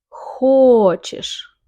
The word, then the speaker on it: хочешь: Ты хочешь. Ты хочешь. The stress is the first syllable.